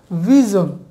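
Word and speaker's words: vision: সো এই উচ্চারণটি হবে ভিজন।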